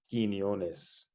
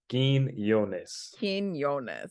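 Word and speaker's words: Quiñones: Do you know how to pronounce it? Quinones.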